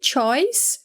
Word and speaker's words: choice: Lembrando que a gente não fala esse E que está aqui no final para pronunciar em nenhum dos dois casos. Então, a gente vai falar choose, choose, choice, choice. Então, não fala choose e não fala choice, tá?